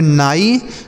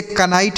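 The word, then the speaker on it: knight: आगे लिखा के एन आई जी एस टी तो के और एन है बच्चों तो यहां पे के साइलेंट होगा। इसको नहीं पढ़ेंगे। ठीक है? तो क्या पढ़ेंगे इसको? ध्यान से देखिए। एन आई से हम पढ़ेंगे नाइट और जी एस टी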